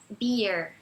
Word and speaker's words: beer: E beer é como se fosse yeah, beer.